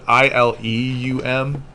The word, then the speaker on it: ileum: half feet give or take make sure you spell it i l e u m not ili if you do i l i